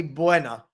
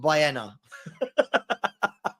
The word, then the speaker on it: Bueno: He said, "I just heard you say Buena. It's not like Kinder Buena. It's pronounced bienna."